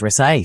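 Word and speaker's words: Rezaei: Y ya sabes, Resaiei se pronuncia así. Sí, resai, sí, es un par de años mayor que yo.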